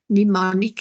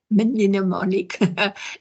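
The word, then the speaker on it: mnemonic: pneumonic devices and note that the it's its pronunciation is nimonic it's not minimic okay and if you think of the compass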